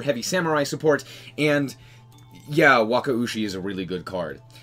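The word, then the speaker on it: Wakaushi: we're going to start with the new stuff Waka USI yes that is technically how you say it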